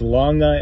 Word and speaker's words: longa: past gym lap map it's longa l-o-n-g-a not l-o-n-g-e I don't even know